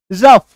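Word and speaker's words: rough: से आ गया इनफ तो मेन बात यह है कि अगर आप किसी शब्द के लास्ट में ओ यू जीी एच देखते हैं तो इसके उच्चारण में क्या होता है फ का साउंड आएगा ओ यू गह का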